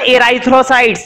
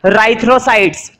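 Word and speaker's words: erythrocytes: ई silent है, ये मत पढ़ना एराइथ्रोसाइट्स, नहीं गलत हो जाएगा। इसको हम पढ़ेंगे राइथ्रोसाइट्स, ठीक है।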